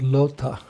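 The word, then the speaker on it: Lautha: foreign actually there's a famous deity are called lota r l a u t h a sometimes it devotee is spelled as l-o-t-a like like a lota alota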